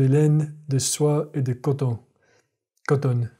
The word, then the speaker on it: coton: It's not coton. It's coton. It's very closed. De coton.